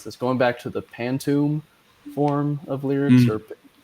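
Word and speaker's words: pantoum: is going back and I'm probably going to mispronounce this going back to the pantom form of lyrics or right that's right pan t o m pantom uh of repeating the second line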